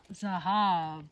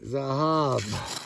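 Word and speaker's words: זהב: Zahab. Spell it. Zion. Uhhuh. Hey. Hey. Bet. Exactly. Zahab.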